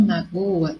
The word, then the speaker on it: magoa: Quem sempre magoa as pessoas com quem convive não merece amizades sinceras, então vai ser o go.